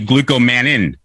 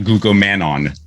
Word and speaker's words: glucomannan: have mine right here it's actually glucomannan not glucomannon this is the one i